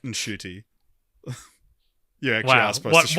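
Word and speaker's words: Ncuti: Did you hear about how he was like, he did this like video on how to pronounce his name, and he was like, it's Shooty, it's a silent N.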